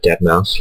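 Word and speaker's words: deadmau5: bloody beatroots definitely uh dead mouse which is spelled dead Ma ma5 and then the other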